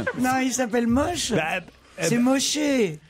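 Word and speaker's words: Moché: C'est Moshé. Moïché. Oui, c'est Moshé. Ah bah c'est écrit. Oui, mais c'est francisé, c'est écrit avec un C.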